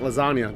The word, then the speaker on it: lasagna: Cause a real OG's move in silence like lasagna. Don't forget. What does that mean? You don't pronounce the G, right?